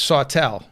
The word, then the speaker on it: Sautel: sure that I pronounce Sawtelle is that correct it's just like it's just like Saw s a w and then tell I'm telling someone about